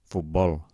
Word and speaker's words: futbol: Comencem per les agudes, intentem pronunciar-les. Un moment abans que ho digui jo. Xofer, oboè, alfil, zenit, futbol, el Tibet, els Carpats.